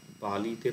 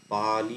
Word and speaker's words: পালি: তো পালি শব্দটা যদি নেওয়া হয়, পালিতে পা হচ্ছে দীর্ঘস্বর, লি হচ্ছে হ্রস্বস্বর। এটা পালি এরকম উচ্চারণ হবে, পালি না। মানে পাতে একটু টান পড়লো, তারপর লিটা হ্রস্ব হলো।